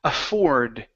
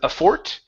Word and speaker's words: afford: try that last word afford give me a D sound instead of aort afford aort a okay all right